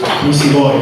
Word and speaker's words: Misigoy: I need to correct somebody for my name, but it is Misigoy. My name is Misigoy. Hard G sound, but not a big deal.